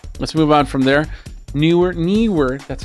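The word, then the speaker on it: Neewer: move on from there newer knw that's how you pronounce it knw it's a two syllable thing knw is the has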